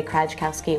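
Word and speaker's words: Krajkowski: they would always say k Kowski which the J is silent um and so when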